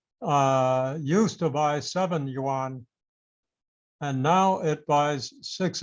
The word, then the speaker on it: yuan: you can see that the chinese yuan i believe it's pronounced when compared to the